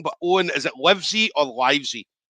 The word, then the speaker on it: Livesey: is now owen i've probably been saying your name wrong but owen is it livesy or livesy it's lives your mouth everyone spells